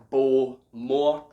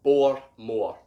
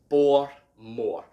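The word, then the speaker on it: Bowmore: so this is pronounced bore more bore more quite simple quite straightforward but that's how you pronounce it the w basically acts as an r so once again bor more bor more so you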